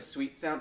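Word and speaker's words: Suite Sound: Have you ever heard of Sweet Sound? It's spelled like a hotel kind of suite.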